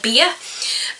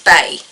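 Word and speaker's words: Beyah: they actually has to remind somebody how to pronounce hernics so somebody who calls her beer and so she's like no it's Bae as in like I think of it as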